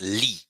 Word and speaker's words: li: very good now so the third personal pronoun is Lee l i le le le le you see e this sounds does not exist in yeah we have it in English when you say um beat e beat beat um Team e e you see e team the same sound it's a very it's